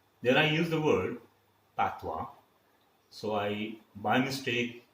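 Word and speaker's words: patois: for the initiation then i use the word pathwa so i by mistake spell it wrongly p a t i o it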